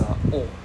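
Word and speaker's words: を: Actually 99% of the time it will just be a O.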